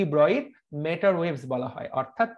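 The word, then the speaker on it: Broglie: সো এই তরঙ্গ দৈর্ঘ্যকে এই জন্য ডি ব্রয়ির তরঙ্গ দৈর্ঘ্য বলা হয়। সো বইয়ের মধ্যে আমির স্যার কিন্তু তোমাদেরকে ডি ব্রগলি শেখাচ্ছেন, তুমি পরীক্ষা তো ডি ব্রগলি দাগাবা। যদি আসলে রিয়েল উচ্চারণটা করতে চাও, উচ্চারণটা হবে ব্রয়ি।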